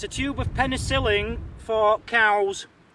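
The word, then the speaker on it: cawl: Julie made a beautiful it's spelled c a WL but I think they Pronounce itow Welsh cow it's basically a stew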